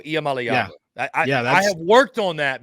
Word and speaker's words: Iamaleava: doing it on purpose it's malava Nico IAM malava I have worked on